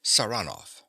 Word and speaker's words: Saranoff: him around this way he pronounces the name with a stress on the second syllable saranov Nikola yes sir he